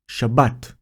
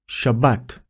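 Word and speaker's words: שבת: The pronunciation is Shabbat. Shabbat. We have the letter Shin, decorated with Patah. Followed by the letter Bet, decorated with Kamatz Gadol.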